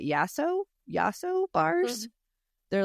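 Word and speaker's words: Yasso: you ever had um I think you pronounce it yaso yaso bars they're like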